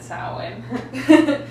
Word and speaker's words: Samhain: the celtic festival of saurwin or samhain is how it's spelled but it said sarwin so it comes from